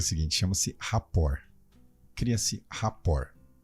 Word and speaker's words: rapport: Você fala rapport, se escreve rapport, mas se fala rapport.